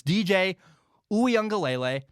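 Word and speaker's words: Uiagalelei: haven't heard the name here's how you say it it's dj oo young galele he's really impressed me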